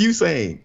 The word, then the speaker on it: Usain: His name is not you. His name is Usain.